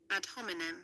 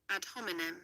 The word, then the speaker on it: ad hominem: Alright, so the proper pronunciation, yeah? Ad hominem. Wanna get it? Ad hominem. Teacher? Ad hominem.